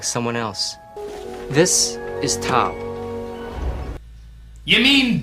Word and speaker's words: Tao: This is Tao. You mean Tao? The word that's spelled like Tao but pronounced like Tao except by people that know absolutely nothing about Chinese?